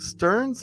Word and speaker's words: Stearns: his name is Stearns is that correct Stearns or is it perfect that's perfect I love